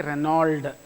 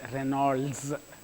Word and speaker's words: Reynolds: is it Reynolds number don't say Renauld it is Reynolds the name is so